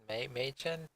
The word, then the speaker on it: Mädchen: Mädchen? Apparently the proper way to pronounce it is like Mädchen or something like that.